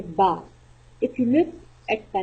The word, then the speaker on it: ب: Pronounce Ba. Ba. Ba. Very softly.